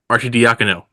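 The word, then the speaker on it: Arcidiacono: Pistons for forer Flynn Quinton Grimes and Ryan Arie deakino yeah that's how you say it a former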